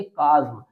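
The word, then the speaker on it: chasm: इसको रीड करेंगे काज्म।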